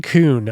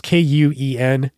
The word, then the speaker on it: Kuhn: So there was a guy running the California International Marathon named Aaron Kuhn. I think I'm pronouncing that wrong. It's Kuen, Aaron Kuhn.